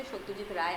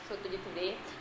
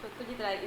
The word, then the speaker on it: Satyajit Ray: I have to say Satyajit Ray. I will not pronounce it as Satyajit Ray because being a Bong, it is our just duty to pronounce it right. So Satyajit Ray is the right pronunciation, and I love to read books.